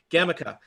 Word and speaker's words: Gemica: Jemica, there is a Gemica. Nope, those both sound wrong. Hard Yeah. G. Hard G. Gemica.